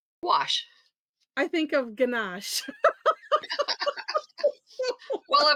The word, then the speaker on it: gouache: yeah when I see that how do you pronounce it gouache gouache I think of ganach well of course you